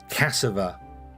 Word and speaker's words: cassava: So, Cassava, because there's no R in it. If it was meant to be meant to be pronounced Cassava, there'd be an R in it.